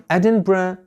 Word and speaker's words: Edinburgh: on is called the earth Edinburgh or Edinburgh Edinburgh is the capital of one of the most